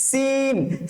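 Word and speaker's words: سين: আওয়াজের মতন করে উচ্চারণ করতে হবে তারপরে হচ্ছে সিন সিনটা কিভাবে উচ্চারণ করবো স্যার আমরা টায়ার পাঞ্চের মতন করে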